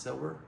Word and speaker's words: Silber: I think the company is pronounced silver.